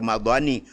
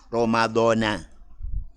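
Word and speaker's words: رمضان: Jadi bukan Ramadhani. Ramadhana.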